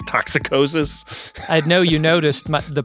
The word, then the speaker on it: toxicosis: Toxicosis sounds like they added an extra syllable to make it worse. You know, it's not toxosis, it's toxicosis.